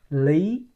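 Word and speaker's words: Lý: we we say it Lee Lee so not Lee so just like you pronoun L E Lee no this one totally different last name so l y Lee Lee okay now most of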